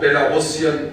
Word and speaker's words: Belarusian: for more inclusiveness of Belarusian lectures and staff. And I got to know today that one has to say Belarusian and not the other pronunciation.